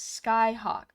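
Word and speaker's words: Scáthach: Scathatch is Skyhawk.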